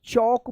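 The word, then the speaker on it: chalk: L silent है। तो क्या होगा? सी एच से च होता है ना? तो चौक पढ़ेंगे।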